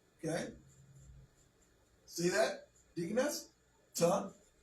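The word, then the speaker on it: טוב: So here, this is Ta'ob. Okay? See that, Deaconess? Ta'ob. Tet. Wav has the O or U sound.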